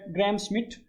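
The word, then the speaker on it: Gram–Schmidt: तो ये जो होता है अपने पास जी आर ए एम एस सी एच एम आई डी टी ग्राम स्मिथ। तो अपनी-अपनी प्रोनाउंसिएशन है।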